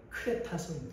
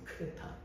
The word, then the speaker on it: 크레타: 이러니까 좀 낯설게 느껴지지만이 그대가 원래 발음은 크레타 크레타 그래서 그리스 신화에도 나오는